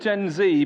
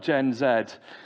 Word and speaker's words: Gen Z: Uh, I'm going to call it Gen Z because if you speak to anybody who falls into the category of Gen Z, that's how they'll pronounce it, not Gen Zed.